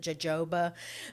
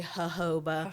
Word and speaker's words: jojoba: Some people pronounce it jojoba, but it's actually jojoba.